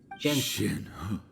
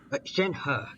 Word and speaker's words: Shenhe: Shenhe. Shenhe.